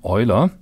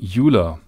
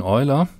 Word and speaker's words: Euler: Most people these days use the German pronunciation of his name, Euler, even though the Swiss pronunciation may be different from that.